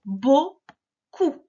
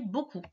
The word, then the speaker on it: beaucoup: Ça s'écrit comme ça et on ne prononce pas le P à la fin.